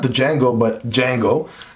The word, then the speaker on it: Django: not the Django but Django got to keep remembering that the D is silent in that word d Jango right this